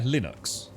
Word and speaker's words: Linux: it right now yeah linux not lie as in you're telling a lie is it linux make